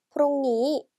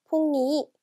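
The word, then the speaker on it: พรุ่งนี้: 태국어로는 프롱니, 프롱니 하고 발음해주면 돼요. 자, 그리고 회화체에서 짧게 퐁니, 퐁니라고도 발음하는데요.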